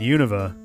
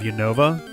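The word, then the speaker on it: Unova: However, we are going to have a second game in Univa. I'm trying to train myself to say Univa instead of Yova.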